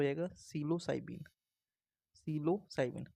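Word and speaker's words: psilocybin: cyber से हो जाएगा सिलो साइबीन सिलो साइमन पी साइलेंट है इसमें हो जाएगा सिलो साइबीन य हो जाएगा सिलो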